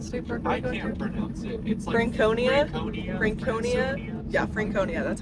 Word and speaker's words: Franconia: our what's the state park Franconia Franconia yeah Franconia that's how they pronounced it um so that's where we're heading